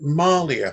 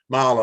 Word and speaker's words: Marla: You've been involved with Goddess When She Rules, which raised money for the, I'm not sure, is it Malia Fund? Have I got that right? That was your latest Marla, that's it, yeah.